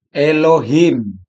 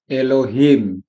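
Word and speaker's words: אֱלֹהִים: Contoh Elohim. Ini contohnya Elohim. Huruf depan ini alf. Alex tidak bunyi tapi tanda bacanya ini e tanda baca yang ini kan ini titiknya ada lima disebut kataf segol.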